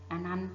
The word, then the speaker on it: อนันต์: อัน นั้น ค่ะ คือ อนันต์ ตัว อะไร หาย ไป คะ ตัว การันต์ ที่ หาย ไป คือ ต่อ เต่า กับ ไม้ ทันตะ ค่า หน้า ขา ไป